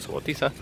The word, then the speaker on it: Subotica: Ahí la encargada de la biblioteca pública nos explicaba un poquito sobre este lugar, sobre Subotica, que se pronuncia Subotica, y nos decía, bueno, que poco a poco